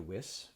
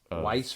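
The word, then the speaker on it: Wyss: girlfriend played by Amanda whis I believe that's how you pronounce it Weiss or whis Freddy of nightm Street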